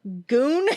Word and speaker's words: Gune: Goon, which is unfortunate. But it's spelled Gune, which you would never even know if you didn't have subtitles on.